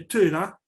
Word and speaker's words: Thera: punto de que la isla de Thera, o Tira, se lo pronuncia en griego moderno, la actual Santorini, se quebró en 2 partes.